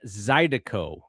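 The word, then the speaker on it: zydeco: the influences to this song were Cajun and Zidico. Is it am I pronouncing that word correctly?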